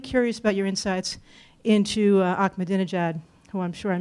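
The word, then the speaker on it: Ahmadinejad: primarily I'm really curious about your insights into akad Jad who I'm sure I'm mispronouncing no actually you pronounced the name very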